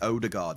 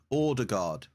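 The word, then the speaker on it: Ødegaard: Because here we'd say Odegaard, you see. Yeah, Erdegard, yeah, okay. That's cool. Just want to get my pronunciation right. Well, the O is right, but the A is not pronounced like that. Okay, how do you do the A then? Board. Erdegard. Erdegard? Ord. Oh, Erd. Ord. Ord. Ordegard.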